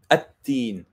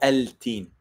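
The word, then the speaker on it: التين: So it would be like at-teen, the fig. At-teen. There's no al-teen.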